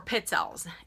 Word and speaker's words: pizzelle: Some people pronounce them pizzelles or pizzelles.